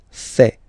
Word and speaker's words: fait: Il, masculin, and then elle, féminin, fait. Final T not pronounced.